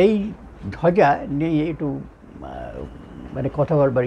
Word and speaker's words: ধ্বজা: এইখানে ধয়ের পেছনে যে বটা আসছে সেটা হচ্ছে অন্তস্থ ব, তার উচ্চারণ হয় ওয়া, ওয়া বলে, ধোয়া যা, ধোয়া যা, ঠিক আছে, এইভাবে উচ্চারণ হয়।